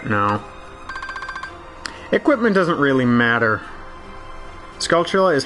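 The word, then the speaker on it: Skulltula: thought it was wrong I thought the proper way was scula but I I I but I never said it all right at fast speeds that's really hard to control skula scal Scala no I definitely don't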